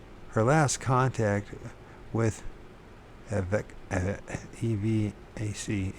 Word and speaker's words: EVAC: Her last contact with EVAC, E-V-A-C, EVAC, that's how you pronounce it, even EVAC, was in December 1987, as she drove her son through a snowstorm into another town.